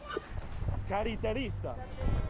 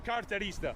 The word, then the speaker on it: carterista: Caritarista. See? Oh, carterista.